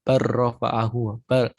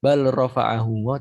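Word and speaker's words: بَلْ رَفَعَهُ: Barrofa'ahu. Lamnya hampir hampir hilang kalau di sini. Bal bukan bal rofa'ahu tapi barrofa'ahu.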